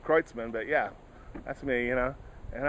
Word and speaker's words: Kreutzmann: He said, yeah, man, it's pronounced Kreutzmann, but yeah, that's me,